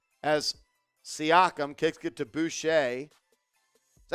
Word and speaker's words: Boucher: As Siakam kicks it to Boucher.